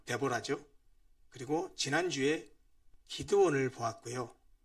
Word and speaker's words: 드보라: 사사에는 12명의 사사가 기록되어 있는데 어 우리가 지난번까지 맨 먼저 여사 드보라 어 영어 발음으로 데보라죠.